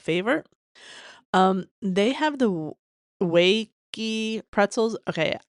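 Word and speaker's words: Wege: Um they have the wakey pretzels. Okay, I grew up calling them the Ouija pretzels. Apparently they're WGI. See, I've been mispronouncing stuff all my life.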